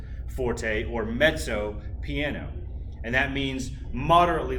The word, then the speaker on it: mezzo: to it which means mezzo and that double z by the way in italian is pronounced s like a ts sound mezzo forte or mezzo piano and that means